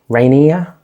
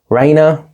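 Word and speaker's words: Rhaena: We start off with Rainey Raina. Rea, it's not Reira cuz that's the queen. Raina, I'm terrible pronouncing these names, guys.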